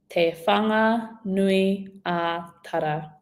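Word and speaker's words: Te Whanganui-a-Tara: your mouth, it will help tremendously with your pronunciation. Ka pai. So first we have te whanga nui a tara. Te whanga nui a tara.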